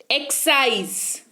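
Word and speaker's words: excise: फिर है एक्साइज, एक्साइज, यहां पर देखिए एक्स लिखा हुआ है, एस नहीं लिखा हुआ है। एक्स के बाद, जस्ट बाद उसके एक्स, एस नहीं लिखा हुआ है, लेकिन उच्चारण आ रहा है एक्साइज, यानी कि उत्पादक शुल्क।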